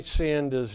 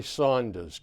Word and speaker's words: Sanders: In the last show, I mispronounced Bernie Sanders' name as Bernie Saunders twice.